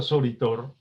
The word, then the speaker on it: Soritor: Es decir, decimos Soritor. Y la última sílaba, tor, es fuerte, contundente y hasta parece triturador. Es el cierre de la palabra que afirma y confirma lo dicho de las sílabas anteriores.